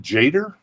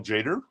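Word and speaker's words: Tjader: is it is it jader Carl jader I'm I'm GNA think the t is silent that's a VG plus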